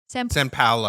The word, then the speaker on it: São Paulo: São Paulo. Am I saying it right? São Paulo.